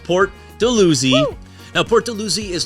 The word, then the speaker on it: Port Dalhousie: And the number 4 neighborhood, and one of my favorites, is Port Dalhousie, pronounced Port Dalhousie.